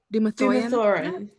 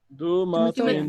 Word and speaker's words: Dumathoin: Dumathorin? Dumathorin. Dumathorin. No, there's no R at the end. Dumathoin. Dumathoin. I'm saying this is all in character. We're all just be like Gee, Dumathoin.